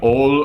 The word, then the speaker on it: Hole: It's spelled H-O-L-E, but with the Norwegian accent, it's supposed to be like Ol or something like that.